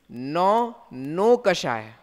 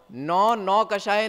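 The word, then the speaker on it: नोकषाय: तो नौ कषाय नहीं है, नो कषाय है, ठीक है?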